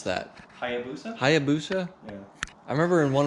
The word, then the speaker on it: Hayabusa: How do you pronounce that? Hayabusa? Hayabusa? Yeah. I remember in one of my videos I pronounced it like Habusha. Yeah. Habushka or something.